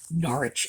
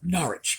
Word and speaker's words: Norwich: and upholsterers exchange street norwich england now this is norwich by the way when it's in england it's norwich when it's in connecticut it's norwich which is our difference in pronunciation i have always loved